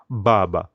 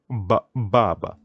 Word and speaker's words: Baba: would pronounce it as Baba so you can hear the B Baba the word sister D